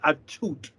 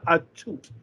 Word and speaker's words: Atout: respect for the lady can barely say her name right it's alicia attute it's not that hard to say it's alicia a toot that is very happy